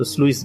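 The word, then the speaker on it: sluice: অনেকে আমরা উচ্চারণ সুইস গেট বলি। তো এটা মূলত স্লুইস গেট।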